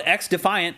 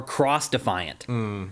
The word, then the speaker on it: xDefiant: Well, people are also confused on whether you actually pronounce it xDefiant or cross-defiant because the X in front of it is lowercase. Right. So I think it's actually xDefiant, but people are wondering.